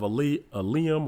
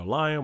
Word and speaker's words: Eliam: So she's the daughter of Eliam or Eliam or Eliam, however you want to pronounce it.